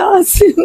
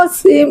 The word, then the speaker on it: আসিম: সব সময় দেখতেছি ফেসবুকে বিভিন্ন চ্যানেলে আমার ছেলের নাম হচ্ছে আসিম জাওয়াদ, আমার বাবার নামটা আমি রাখছি। সবাই বলে অসীম অসীম, এগুলো সবাই মিডিয়াতে বলতেছে অসীম অসীম, আমার বাবার নাম তো আমি আসিম জাওয়াদ রাখছি।